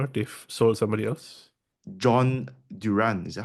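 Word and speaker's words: Durán: John Duran, is that how you Mm. pronounce his name? Duran, John yeah.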